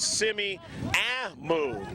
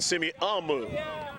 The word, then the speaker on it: Semiahmoo: stingrays and the Cyclones little correction on the pronunciation of the steam raises Simmi move rather than see me I'll move just a little for